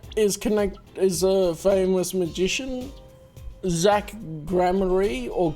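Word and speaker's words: Gramarye: Zach Grammary or Grammari, because it's spelled R-Y-E on the end. I feel like it should be pronounced rye, like rye bread, but anyway.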